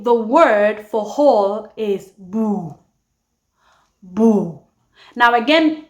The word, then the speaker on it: bur: But the R most actually tend to omit the R at the end of a word. So instead of saying bur, I actually would say boo. Boo. They omit the R.